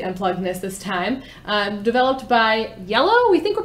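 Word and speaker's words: iello: this time developed by yellow we think we're pronouncing that right i-e-l-l-o that's how i would pronounce it the logo is also yellow the color so that's the guess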